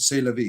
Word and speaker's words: c'est la vie: C'est la vie is French, but it is a common pronounced c'est la vie. Yes. Oh, sorry. I'm ignorant. C'est la vie.